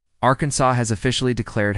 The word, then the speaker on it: Arkansas: It's illegal to mispronounce Arkansas. Arkansas has officially declared how to pronounce its name. According to the Arkansas Code, it's Ransaw with a silent s at the end.